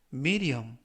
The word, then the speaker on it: medium: 승차권은 한 달간 유효합니다라는 뜻이 되겠습니다 이번 표현은 미디엄 미디엄 미디엄이라고 발음하시면 되겠고요 이때 유의하실 점은 알파벳가 연음에 의해서